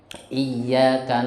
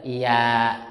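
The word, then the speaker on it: إِيَّاكَ: Ya nya iyyaka di tasjid apa enggak? Di tasjid, berarti yang bacanya bagaimana? Coba 1 2 3. Nah, iyyak, iyyak, enggak boleh iyak, enggak boleh, ya.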